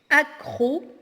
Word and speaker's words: accro: Accro, si vous remarquez bien, on ne prononce pas le deuxième C et le dernier. Donc on a au milieu et à la fin.